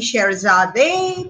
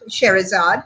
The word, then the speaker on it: Scheherazade: is called charizard reborn the arabic pronunciation would be cherizade but we are going to call it charizard which is a more anglicized pronunciation cherries are reborn telling